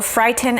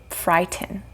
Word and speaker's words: frighten: releasing the air so frighten is the same right normally you might say frighten but the correct or the native way of saying this word is frighten tighten frighten okay we